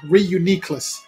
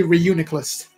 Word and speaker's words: Reuniclus: I said that wrong they put the emphasis on the weird syllable Reuniclus that sounds weird to me I just say Reuniclus I guess because it